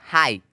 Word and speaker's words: high: यानी कोई भी शब्द है उसके अंत में चाहे GH रहो या GST रहो तो GH साइलेंट हो जाएगा। जैसे HIGH, हाई।